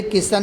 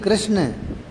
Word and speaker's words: कृष्ण: फिर हंसे गर्ग जी, बोले, किशन नहीं, कृष्ण।